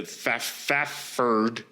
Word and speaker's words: Fafhrd: Basically, they're like Conan, like the main guy, the Fafherd, because it's spelled Fafhrd.